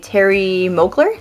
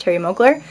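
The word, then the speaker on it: Thierry Mugler: this cool looking bottle here is alien by Terry Moakler it's pronounced Terry mogler and I picked that one up at on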